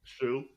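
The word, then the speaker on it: Hsu: How do you say her last name? Stephanie Shu. Shu.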